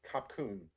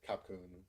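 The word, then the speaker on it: ขอบคุณ: So I looked up how to say thank you in Thai, and I'm probably going to mispronounce this, but it's I think it's kapkun.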